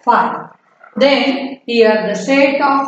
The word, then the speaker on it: phi: What is the pronunciation of that? Phi.